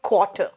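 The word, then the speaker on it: quarter: 1 को कहते हैं क्वाटर क्टर ठीक है क्टर आर लास्ट में आता है तो एकदम सॉफ्ट हो जाता है या साइलेंट हो जाता है क्वाटर क्वाटर अगर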